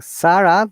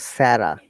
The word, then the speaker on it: Sarah: One thing, Sarah, the way you have pronounced it looks like Arabic name. In English, it is called Sarah.